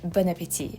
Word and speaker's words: bon appétit: You guys, I've never heard any Americans say bon appétit. It's always bon appétit.